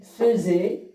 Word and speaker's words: faisait: Donc, l'exemple, chaque soir, il faisait, donc ici on va prononcer le verbe faire à l'imparfait, feu au lieu de dire fait.